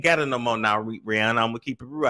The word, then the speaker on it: Rihanna: you need to do Rihanna that's actually how you pronounce it actually Rob come to